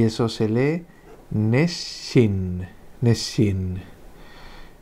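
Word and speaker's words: 熱心: Y eso se lee neshin, neshin.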